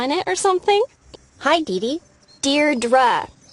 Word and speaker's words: Deidre: it or something hi Dei dear dra I know it's got that tricky second syllable but I figured it out by age two don't give up you'll